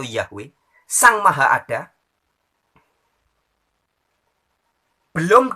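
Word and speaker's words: Yahweh: yang dalam teks ibraninya ditulis dengan huruf yogs yhwh dibacanya you've atau yahwe sang Maha ada Hai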